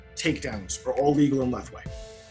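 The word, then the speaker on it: Lethwei: knees kicks punches takedowns are all legal in left way how do you spell that uh l e t h w e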